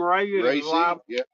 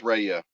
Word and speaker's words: Rhea: what I was asking R was somebody name Ray is it Ray col yeah R EA did